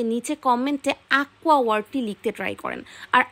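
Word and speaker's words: acqua: যারা একান্ত কে বা সি ব্যবহার করছে তাদেরটা ভুল, কারণ আকুয়া আকুয়া একটা কু একটা টান আছে সি এর পরে, এই টানটা সি এবং ইউর মাঝে একটি কিউর মাধ্যমে আসে।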